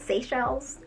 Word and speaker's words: Seychelles: sunday in seychelles is how you say it seychelles you know what i'll know how to say